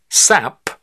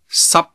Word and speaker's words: 濕: But P, T, and K are different. They're not fully pronounced, the escape of air being cut off. So it's not sap, it is 濕。